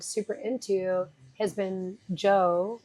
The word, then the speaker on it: Djo: super into has been Joe. It's spelled DJO.